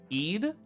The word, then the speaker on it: Eid: Oh, you have a I actually don't know how to pronounce that. Aid celebration. Eid.